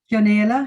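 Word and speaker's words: Ní Chionaola: You told me how to spell it properly. Ni Chionaola. Chionaola, yeah, very good.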